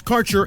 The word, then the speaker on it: Kaercher: Your connection to quality cannabis insurance services is spelled Kaercher. That's Karcher Insurance.